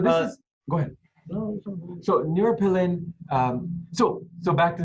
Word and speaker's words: neuropilin: repeat uh the name of this protein neuroplane neuropilin neuropilin i can spell it for you as well n-e-u-r-o-p-i-l-i-n now i